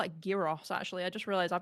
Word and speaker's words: gyros: It's like the word gyros. It's not gyro. It's gyros.